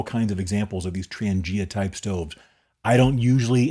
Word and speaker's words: Trangia: the most over the years is called the Transangia. That's spelled T R A N G I A.